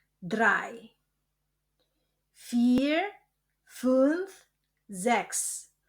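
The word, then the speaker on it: vier: Fear Fth Zex. Kombinasi huruf I e dibaca I panjang dan huruf U um laut dibaca U. Jadi fear fth sex sib akh noin.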